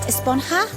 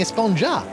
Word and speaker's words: Esponja: has been about huh actually it's pronounced esponja with an H sound at the end but we've all been saying a sponger yes I know it's